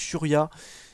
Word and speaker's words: Churia: Je penserai aussi à Patrick Churia, parce que Karim m'a dit la prononciation, c'est Patrick Churia qui est là et qui va toujours faire autant de plaisir à cette équipe de Monza.